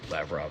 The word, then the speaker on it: Lavrov: Sorry, Lavrov is 2 syllables.